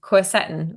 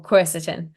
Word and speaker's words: quercetin: of is something called quercetin or quercitin, depending on which accent you pronounce it in.